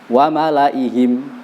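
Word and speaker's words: وَمَلَئِهِمْ: Jadi cara bacanya wa malaihim, lamnya pendek, i-nya juga pendek. Wa malaihim ayyaftinahum.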